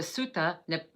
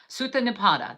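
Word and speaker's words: Sutta Nipata: So let me say that right. That's the Sutta Nipada. Sutta Nipada, that is spelled S-U-T-T-A-N-I-P-A-T-A, Sutta Nipada.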